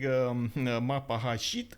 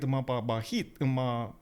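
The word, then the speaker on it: Majapahit: Instead of saying Mapahashit, I have been calling it Mapabahit.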